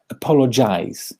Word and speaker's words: apologize: I'm not saying that this word is mispronounced very often, but let's have a look at the phonetic transcription of it. It's apologize, right? Apologize, apologize. The ending is jize, jize. That's the verb.